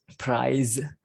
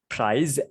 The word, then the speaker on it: prize: about it prize yeah we can focus on the pronunciation there so prize and there's a word which is a bit like it but the pronunciation is different that is price you understand the difference in the pronunciation right here we have an unvoiced version of the sound so sound again the